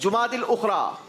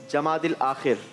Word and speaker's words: जुमादिल उखरा: सही जवाब है 22 जुमादिल उखरा और आपने कहा था 22 जमादिल आखिर। मीनिंग तो एक ही। जी मीनिंग तो एक ही है। मीनिंग एक ही है बेटा, लेकिन प्रोनाउंसिएशन सही आनी चाहिए ना।